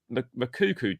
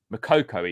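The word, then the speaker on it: Moukoko: But any news on the Makuku deal? Makoko even, sorry, I don't know why I fucks that pronunciation so much.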